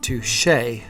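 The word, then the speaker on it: touché: Touche. It's pronounced touche.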